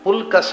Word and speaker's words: ಪುಲ್ಕಸ: ಅಂತ ಹೇಳ್ತೇವಲ್ಲ ಅದೇ ಅರ್ಥ ಪುಲ್ಕಸ ಅಂದ್ರೆ ಪುತ್ ಕಸ ಉತ್ತು ಬಣ ಉಲ್ಬಣ ಆಗುವುದಿಲ್ವೋ ಹಾಗೆ ಪುತ್ತ ಕಸ ಪುಲ್ ಕಸ ಆಗುತ್ತೆ ಅದು ಪುತ್ ಕಸ ಉದ್ಬಣ